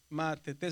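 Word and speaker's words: μαθητής: Matetés. Está está en la última sílaba.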